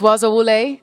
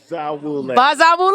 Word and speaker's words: Bazawule: well Blitz waza wle thank you so much did I pronounce that correctly Baza wle I said Baza wle awesome I hear the Z though all right y'all so